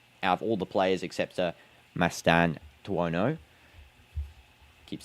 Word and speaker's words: Mastantuono: And now that is Mastuano. How do I say his name? Mastantuono.